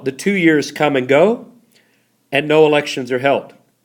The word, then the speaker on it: Ngo: there and a man named NGO dinh diem pronounced go the first in there is silent that's not